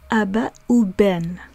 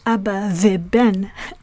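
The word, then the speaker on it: אבא ובן: As we said earlier, we pronounce the conjunctive prefix vav as u when the word that is being attached to the vav is pronounced with the lips being pressed together.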